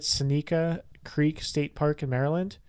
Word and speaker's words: Seneca: It's Burkittsville is the town, and then I don't know if I'm saying it right, Seneca Creek State Park in Maryland. How's it spelled? S-E-N-E-C-A.